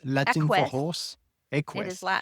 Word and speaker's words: Equus: Equus.